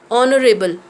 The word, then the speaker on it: honorable: with the consonants, like honorable. It starts with H, consonant, but when we pronounce it, it sounds like a vowel, like honorable, an honorable man, an honest girl.